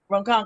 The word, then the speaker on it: Ronkonkoma: Ronkonkoma.